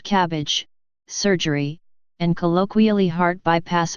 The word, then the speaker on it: CABG: coronary artery bypass graft CABG pronounced cabbage surgery and colloquially heart